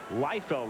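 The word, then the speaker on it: Leifield: Lefty Liefeld, I guess is how he pronounced it, pitched with the Pirates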